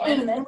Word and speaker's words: Aman: I didn't even know how to say the last name. Right, it's AMAN.